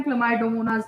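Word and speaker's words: Chlamydomonas: बस अपनी प्रोनाउंसिएशन खराब ना करते हुए आप स्पेलिंग को इस तरह से याद कर सकते हैं, बोलते टाइम क्लमाइडोमोनास ही बोलिएगा।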